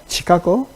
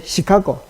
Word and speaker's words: Chicago: French type of pronunciation, like Chicago. Okay, here a lot of people say Chicago, Chicago, and that's operation. Sorry, that is French pronunciation.